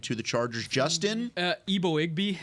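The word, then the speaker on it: Eboigbe: the Chargers Justin uh ebo igby is my is is is my U interpretation uh kind of similar to igog if you remember from last year a little bit I'm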